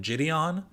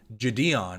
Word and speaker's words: JiDion: Everyone I've heard has always called him Jidion, but then I heard him a few times say Jadeon and I was like, "Oh, that makes sense. There is a capital D that I guess I never noticed."